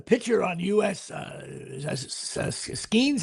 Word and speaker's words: Skenes: And for some reason, uh what's-his-name uh the pitcher on US Is that Skenes? How do you say his name? Mhm. Paul Skenes, yeah.